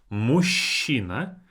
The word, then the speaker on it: мужчина: Мужчина. Even though it's spelled as мужчина, we pronounce it as мужчина.